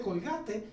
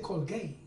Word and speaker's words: Colgate: Y mi papá le dijo: no se dice Colgate, se dice Colgate.